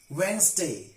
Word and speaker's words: Wednesday: hang the curtain samstone sandwich not sandwich sandwich wednesday not read in a stay in the pronunciation of these words very many people commit